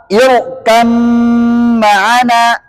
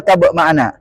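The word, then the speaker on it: ارْكَب مَّعَنَا: Bacanya irkam ma'ana. Nggak boleh irkab ma'ana.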